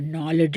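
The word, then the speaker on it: knowledge: நம்ம வந்து உச்சரிக்க மாட்டோம் இப்ப நாலேட்ஜ் எடுத்துக்கிட்டிங்கன்னா கேவ விட்டுருவோம் சைக்காலஜி எடுத்தா பிஏ விட்டுருவோம்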